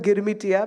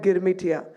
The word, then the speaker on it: Girmitia: So we call them Girmitia because they couldn't pronounce agreement. They would call it Girmitia.